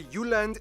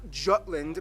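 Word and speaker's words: Jylland: full disclaimer ignore wikipedia i'm going to pronounce the location names in their proper danish context so here we go denmark is made of the uland not jutland peninsula that connects to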